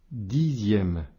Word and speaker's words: dixième: Dixième. Ici, le X se prononce bien ZE.